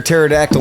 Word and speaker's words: pterodactyl: can't you hear a pterodactyl in the bathroom i don't know because the pee is silent that's it man you